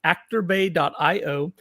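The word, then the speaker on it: ActorBay: IO I should I should learn to say it correctly actor bay. just singular not plural It's Not actors actor bay.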